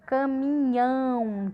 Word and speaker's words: caminhão: Aqui também a gente tem a palavra caminhão, caminhão. Olha como a boca abre mais para falar caminhão. Então, também é oxítona, porque a sílaba tônica, a sílaba de maior som, que a gente fala com maior força, com maior intensidade, está na última.